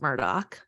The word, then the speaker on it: Murdaugh: Like that's literally how their name is spelled, but it's pronounced Murdoch.